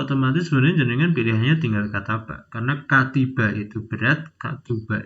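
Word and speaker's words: كتب: ta ba untuk tahu ini bacanya Seperti apa lihat di kamus kita akan nemukan di sana kataba Bukan katiba juga bukan katuba kalau anda sudah familiar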